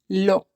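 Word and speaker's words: לא: Lo. We don't say it lo, we say it lo. And the closest word in English to lo, how we pronounce it, is law.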